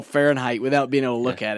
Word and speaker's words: Fahrenheit: it doesn't sound or it sounds just like fair and height you know when you put it together it's nothing like that it's fh r e